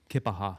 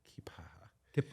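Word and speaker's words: Keya Paha: I think it's pronounced Kipaha. Kipaha. Yeah, depends on who you are.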